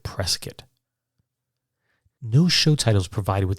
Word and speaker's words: Prescott: Now, it's spelled Prescott, but he pronounced it Prescott.